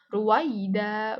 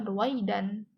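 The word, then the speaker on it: رويدا: Jadi karena dia itu di akhir kata dibacanya itu kaida ruwaida bukan ruwaidan. Walaupun dia itu adalah tanwin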